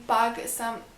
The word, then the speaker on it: Pug: Yeah, no, I think it's pronounced Pug like a dog because it's spelled the same.